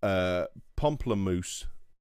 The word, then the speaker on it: Pomplamoose: I'll make sure I pronounce this right. Pomplamoose music on YouTube.